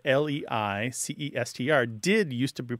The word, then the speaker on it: Leicester: So a word that's spelled L-E-I-C-E-S-T-E-R did used to be pronounced something more like Leicester. Leicester. Yeah. But there were three syllables, and now it tends to be two, okay?